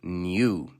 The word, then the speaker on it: Nue: so let me explain meet new pronounce nue this new tool set